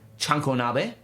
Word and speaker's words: chanko nabe: It's called chanko nabe. Oh, okay. Big fan of chunk being the first Absolutely. syllable there. Chunkonabe is effectively a stew, but it is massively